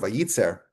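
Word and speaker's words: וייצר: And the word vayer, it's actually it's actually pronounced the same way as it would be if it had only one letter yud.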